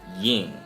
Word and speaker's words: དབྱིངས: saw post suffix okay so the na suffix will get pronounced but the Suffolk sought post suffix just like the saw suffix does not get pronounced itself okay it doesn't alter the pronunciation right so then this